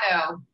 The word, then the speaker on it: Otto: Is that the correct pronunciation? It's Otto.